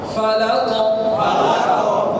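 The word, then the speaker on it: فلق: উপর দিকে, এই জন্য কিছুটা উপর দিকে উচ্চারণটা হবে। ফালাক, ফালাক, ফালাক।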